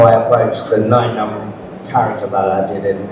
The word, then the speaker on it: Nien Nunb: JJ Abrams calling him Nim Nom and and guys so but it it is is actually pronounced n num like number nine because he was number nine on the creature list before he became a